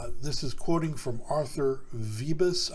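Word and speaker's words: Vööbus: So it says this is quoting from Arthur Vebus, I believe is the way you pronounce his name, although it's spelled Vubus. I could be wrong, but I have heard that it's pronounced Vebus.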